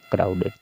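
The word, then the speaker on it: crowded: गया हो गया है क्राउडेड तो इसी तरह से पढ़े जाएंगे यानी कि यहां पर हम क्या पढ़ रहे हैं डी को हम किससे पढ़ रहे हैं एड एड से पढ़ रहे हैं सभी वर्ड में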